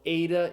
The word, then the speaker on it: eta: So ada is the a sound as in the English word obey.